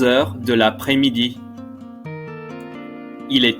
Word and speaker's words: de l'après-midi: De l'après-midi. De l'après-midi. You'll notice there's a silent S in the middle. De l'après-midi.